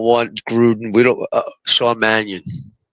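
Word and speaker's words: Mannion: Shawn Manahan. Manion.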